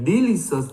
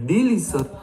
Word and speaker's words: delicious: Nào, nhấn trọng âm nào. Delicious. Không phải delicious. Delicious nhá. Delicious. Biscuit to everything in a coffee because it's very delicious. Đấy nhá. Nhấn cho cô vào trọng âm 2 nhá.